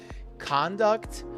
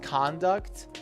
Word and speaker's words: conduct: Conduct is the way people behave. And again, it's a word that has two different pronunciations. When it is a noun, it is conduct.